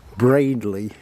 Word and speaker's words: Baddiley: here to have a look at St Michaels Bradley that's how you pronounce it not a very big church and